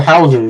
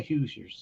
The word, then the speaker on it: Hoosiers: playing does he play he played for the Hauser if I think that's how you pronounced it is it Indiana I think it's Indiana it's the hoosers oh okay so I didn't pronounce that wrong thank you for that you're fine but it's that yes they call they pronounce it the Hoosiers so go ahead but